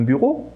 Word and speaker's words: bureau: O som E, A, U se fala O em francês, quase igual à letra O, na verdade. Então, je travaille dans un bureau près d'ici.